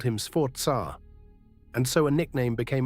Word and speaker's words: Sforza: Sforza means force, from sforzare, to strain, to take by force. And one letter changes everything here. Americans say Sforza. Italians say Sforza. A Z in Italian sounds like TS, give it a go.